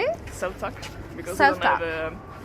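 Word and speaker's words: selv tak: Selvtak, because Selvtak.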